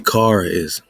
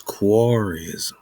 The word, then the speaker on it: Karaism: Today it will be Karaism. Yesterday it was Quarryism.